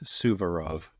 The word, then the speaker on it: Suvorov: The audiobook, I was very careful this time. Definitely says Suvorov. Suvorov. It is spelled Suvorov.